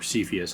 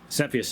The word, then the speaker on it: Cepheus: It is based on the open source Cepheus engine, or Cepheus. Actually, I've heard it pronounced both ways. Refers to the Cepheus of the astronomical variety